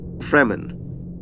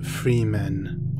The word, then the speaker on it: Fremen: June universe let's begin fremen a very common word in the June universe is the word freman it is pronounced Fremen not Freeman or Freeman the Daikin a group